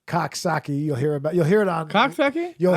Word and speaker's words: Coxsackie: there's Kasaki. That's how you say it locally. Coxsackie.